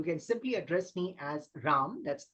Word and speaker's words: Ram: ramnad you can simply address me as RAM that's r a m very simple to pronounce and even more easy to remember and